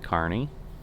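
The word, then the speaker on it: Kearney: once going over it the other way there's carney and yes i'm certain that's how it's pronounced we had a plant there too so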